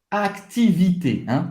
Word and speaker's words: activité: Activité, você vai ter que pronunciar esse C antes do T.